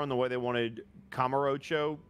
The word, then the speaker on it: Kamurocho: But like the client very specifically wanted it pronounced like that, and I'm like, all right. Well, that's what he wants. Kamurocho. Yeah. Kamurocho. Yeah, right? It's fucking weird because you want to say Kamurocho. Kamurocho. Emphasis on the ro. That's not how they wanted it pronounced, and I was like, fuck, I need to unlearn that.